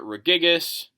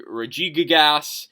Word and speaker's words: Regigigas: Some have pronounced it Regigas. It could be Regigigas.